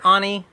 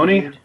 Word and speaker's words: Oni: terms of gameplay um did you say Anie Anie what's wrong with you Onie Onie Onie first we got Capcom